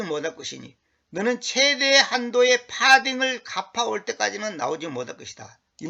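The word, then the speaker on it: farthing: 그 여기서 파딩이란 말은 뭐냐면 어이 파싱이라고도 표현하는데 보통 파딩 이렇게 표 발음을 하는게 좋겠습니다.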